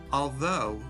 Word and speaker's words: although: need to memorize them although rhymes with words like snow and blow tough rhymes with